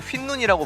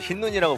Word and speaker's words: 흰눈: 일단 그리고 여러분 그 스케치 보면은 그 사비 부르는 부분에 제가 흰눈을 휜눈이라고 발음하거든요. 그 당시가 이제 하민이한테 발음 지적을 받기 전이에요. 네. 근데 제가 그거를 보고 이거 그냥 지우고 지금 다시 흰눈이라고 부르고 다시 그냥 보낼까